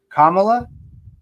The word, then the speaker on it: Kamala: Also, this just in, I've been saying our vice president's name wrong. Kamala, or is it Kamala?